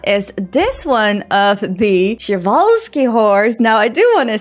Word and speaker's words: Przewalski: I think what happened is that I just heard the Dutch name in my head. How we pronounce it in the Netherlands is Przewalski paard, and I just converted that to something in English.